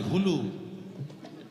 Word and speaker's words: হুলু: উলু নয়, হুলু। হ্যাঁ, হাসি নয়, এটা বাস্তব। কথাটা উচ্চারণটা হবে হুলু, উচ্চারণ হবে হুলু।